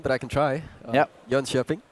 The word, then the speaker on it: Jönköping: Jönköping. Jönköping.